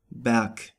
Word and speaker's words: Berg: But at the end of a word it is pronounced like a K. For example, Berg.